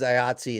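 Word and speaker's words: IATSE: all relative now i mean in part because ayatsi is is striking am i pronouncing that right yep yep which is the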